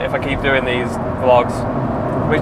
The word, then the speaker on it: vlog: doing these vlogs, which I've learned apparently vlog is the right way to say this. So when I was saying vlog before, people were probably like, what the fuck is this guy on about?